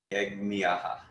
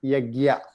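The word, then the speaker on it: यज्ञः: People make it Yagya, which is easier way to pronounce. But again, in Sanskrit, we call it Yajnaha. The nasal na is coming out.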